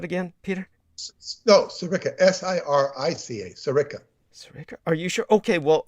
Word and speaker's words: Sirica: his surname is spelled s-c-a-l-i-a how do i pronounce that again peter no sirica s-i-r-i-c-a sarika are you sure okay well i was thinking